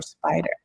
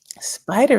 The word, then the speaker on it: SPDR: See the acron finance world is pronounced spider.